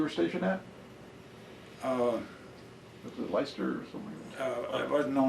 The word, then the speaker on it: Leicester: It's pronounced Leicester, but it's when you see it, it looks like it's Leicester or something.